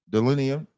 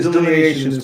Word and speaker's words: delineations: Go ahead, Delineum. Go ahead, brother. It's delineations, but yeah. Delineations, my bad.